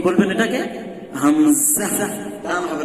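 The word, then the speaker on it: همزة: হামজা, টান হবে না। আমি দেখিয়ে দিয়েছিলাম যে এটা উচ্চারণের সময় কি হবে না, টান হবে না এই অক্ষর পড়ার সময়।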